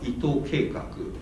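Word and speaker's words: 伊藤計劃: And Project Ito, whose Japanese name is pronounced like Ito Keikaku, is a really post-cyberpunkish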